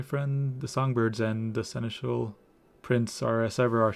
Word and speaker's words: Seneschal: The songbirds and the seneschal prince are as ever our shining stars on stage, and they have been practicing oh so diligently for this event.